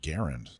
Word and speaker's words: Garand: You were supposed to correct my pronunciation of Grand. Oh, he's given up on you. Yeah. Actually, it's pronounced Garand.